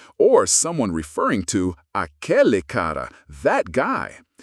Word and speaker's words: cara: I'm talking about cara, pronounced cara.